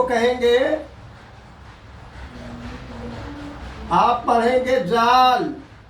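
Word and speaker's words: ذال: जाल ये बिल्कुल से की तरह से पढ़ा जाएगा। से और जाल का प्रोनाउंसिएशन बिल्कुल एक जगह से होगा। जीभ को थोड़ा निकाल करके दांत उस पर रख करके उसका प्रोनाउंसिएशन करेंगे।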